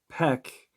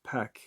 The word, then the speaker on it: Pek: Way, which is spelled Huay, means sorcerer or animal familiar. And Pek means dog, but there's actually a little more meaning to the second word, Pek, P-E-K.